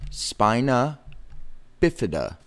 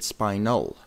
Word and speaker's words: spina bifida: easy series spina bifida is two words spina bifida not to be confused with spinal a lot of people get this confused the mispronunciation of it they get confused by it spina not spine null as some people